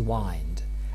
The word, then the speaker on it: wind: well this is because up to the middle of the 18th century the dominant pronunciation of this word was wined and therefore it's not